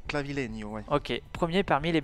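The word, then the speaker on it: Clavileño: clavileno avec la avec la tilte sur le N ça fait clavileno ouais ok premier parmi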